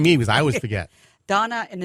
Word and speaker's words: Dana: Donna, and it's spelled D A N A, but we pronounce it like the girl's name, D O N A.